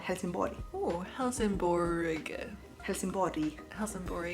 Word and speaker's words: Helsingborg: In Swedish we call it Helsingborg.